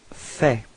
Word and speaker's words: fais: So first form for je, it's je fais. Okay, so final S is not pronounced.